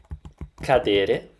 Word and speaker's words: cadere: Cadere. Cadere. Cadere. 3 syllables.